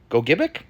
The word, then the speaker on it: Gogebic: That's right, it's Lake Gogebic, or I think another pronunciation might be Gogebic.